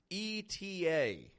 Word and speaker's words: ETA: It's an abbreviation because it only pronounces the letters.